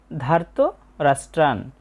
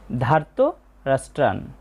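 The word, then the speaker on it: ধার্তরাষ্ট্রান্: এরপর আছে ধার্ত রাস্ট্রান। এ উচ্চারণটা বাংলা উচ্চারণের মত। ধার্ত রাষ্ট্রান।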